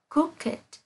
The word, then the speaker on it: crooked: Lưu ý nhé, sẽ có một vài trường hợp là tính từ đặc biệt sẽ được phát âm là ed.